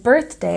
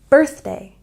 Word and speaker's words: birthday: And birthday has a stress on the first syllable. Birthday, birthday.